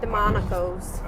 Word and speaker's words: Demonakos: The Silence of Our Friends by Mark Long and Jim I want to say Demonakos. Like I want to separate Demonakos? it. It's Say like it really fast. Demonakos.